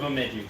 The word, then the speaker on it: Bemidji: But yeah, I'm from Bemidji, so So from where? Bemidji. Bemidji. Spell it, I dare you.